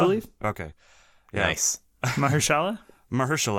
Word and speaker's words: Mahershala: Mahershala, I think, is the right way.